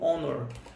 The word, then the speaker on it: honor: take a moment of honor é interessante que o honoro não é é não é pronunciado com r tipo rondon